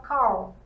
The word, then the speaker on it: Carl: A gente vai falar Carl. Carl. Carl. Bem inglesado mesmo.